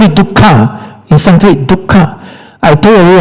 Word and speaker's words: dukkha: If you eat so much pig leg, dukkha, you will suffer also.